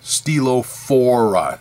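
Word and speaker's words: Stylophora: there you go the nautilus steelographa no stegophora stilo4 s-t-y-l-o-p-h-o-r-a not nautilus nonetheless so fast forward a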